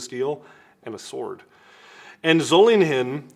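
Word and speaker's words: Solingen: a piece of Steel and a sword and zolling him zoling him yes that is the correct pronunciation um the city in Germany is is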